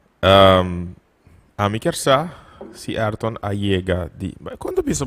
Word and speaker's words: Ayrton: Pero, sí, dus el nombre original tá Ayrton. Pero mi mama te llama mi Ardon. Ok. Dus é silent e Y.